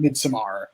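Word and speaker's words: Midsommar: but that's going about mid-summer though it felt so real which was scary in its own way i've heard it pronounced midsummer i'm that so now i the director called it midsamar well it's like when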